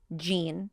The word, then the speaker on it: Jean: Oh, Jean. And it's spelled the same way. It's Jean, not like G-E-N-E. you said, like jeans.